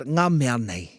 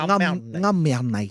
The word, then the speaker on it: Ngā mea nei: Today our game is called Ngā mea nei. And you have to say it like that too. Ngā mea nei.